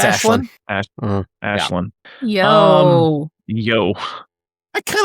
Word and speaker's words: Aislinn: I believe it's supposed to be It's Ashlyn.